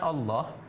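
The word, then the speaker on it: الله: ketika masuk pada kalimat Allah bunyinya tebal. Tafhim. Maka ada kitabullah. Bunyinya itu kan dhammah. Ya kan, ini ya kurunallah, bunyinya tebal. Karena huruf sebelum kalimat Allah itu berbaris, kalau tidak fathah dhammah. Jadi bacanya tebal.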